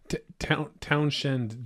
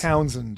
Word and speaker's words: Townshend: Townshend duties. The townshend duties. Yeah. Townsend duties is usually how it's pronounced. Okay. But it's spelled with shend, but usually they don't say it.